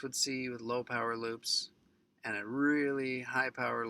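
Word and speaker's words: loupes: one or two teeth at a time it's pronounced loops with two uh o's and i do that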